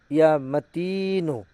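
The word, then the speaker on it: يا متين: সঠিকভাবে উচ্চারণ করবেন। ইয়া মাতিনু।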